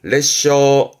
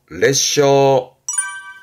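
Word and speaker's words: 裂傷: 발음은 레셔, 레셔.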